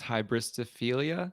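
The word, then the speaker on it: hybristophilia: know anything like this i think it's pronounced hybristophelia yeah it is okay grace nice i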